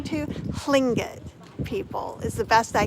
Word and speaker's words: Tlingit: It's hard to say, so he said to say Lynn, and like your tongue touches the top of roof of your mouth, and it's spelled TL. I said it's like do Lynn and blow under your tongue too.